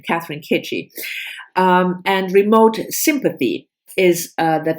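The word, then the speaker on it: Catherine Chidgey: Catherine Kitchie. Because I looked up how she pronounces her name, Catherine Kitchie.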